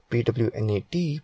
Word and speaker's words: Pwnat: Pwnat, pronounced as Pwnat, is a tool that allows any